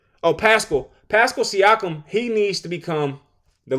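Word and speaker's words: Pascal Siakam: Pascal Siakum.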